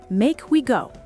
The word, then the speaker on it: make we go: Pronunciation: make we go. Say I'm smooth like one phrase.